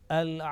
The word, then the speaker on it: al-abidun: And in the second word al-abidun, Laam Sakin was clearly pronounced.